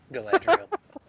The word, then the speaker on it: Galadriel: I've been putting the emphasis on the first syllable. Sorry. That way, it doesn't sound like Galadriel.